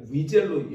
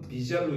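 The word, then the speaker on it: Wiesel: 엘리 위이라는 사람 또는 어 약간 프랑스 발음으로는 그이 영어의 W는 우리가 위젤로 영어로는 위젤로 있고 프랑스식으로는 비젤로 이렇게 있는데 뭐 어쨌든 엘리 위젤 또는 엘리비젤이라는 사람이 있는데요.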